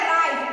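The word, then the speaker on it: right: लेकिन यहाँ GH क्या है? साइलेंट वर्ड हो जा रहा है। क्या हो जा रहा है? साइलेंट। इसको बोलेंगे राइट।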